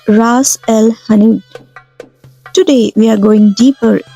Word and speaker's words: Ras el hanout: Before we go any further, let's say it right. Ras el hanout. In some Algerian dialects, you'll hear ras with slightly harder s. Both are correct. Language, like spices, change by neighborhood.